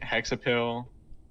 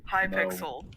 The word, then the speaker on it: Hypixel: If you go to the like I think Hexapil, if that's how you say it. Is that like what? Hexapel? Hexapel? Hypixel.